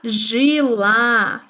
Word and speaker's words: жила: она жила? The stress is on a.